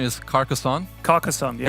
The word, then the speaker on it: Carcassonne: It's Carcassonne. That's how you pronounce it.